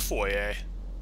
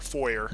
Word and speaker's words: foyer: floor welcome to the foyer or foyer I think foyer is the American pronounciation Foy is the British one but Foye sounds way fancier so can't go for